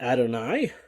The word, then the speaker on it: Adonai: It is the Tetragrammaton, YHWH, the name that we try not to pronounce here, but Adonai is how our Jewish siblings will say it.